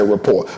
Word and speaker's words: rapport: It's spelled rapport, but you really say rapport.